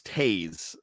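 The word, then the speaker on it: Toews: wrong um t i i believe it's taze uh t-o-e-w-s and that's uh that's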